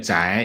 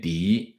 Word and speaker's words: 翟: 破案情况翟是多音字，可以念翟也可以念狄，两个都是姓氏，最初这个字念狄，发源于